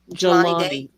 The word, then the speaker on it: Jelani: In terms of the fact that, young, as I recall, John, I can't pronounce his name. Could somebody say it again for me? Jelani.